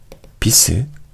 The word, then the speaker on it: bis: 세 번째는 뭐냐면 바로 비스, 테르, 쿼테르 라고 읽는 것인데요.